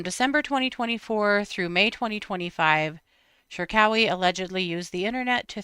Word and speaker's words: Cherkaoui: Shawi, I think. Hold on. I got the pronunciation uh laid out for me and now I can't remember. Yeah, Shawi.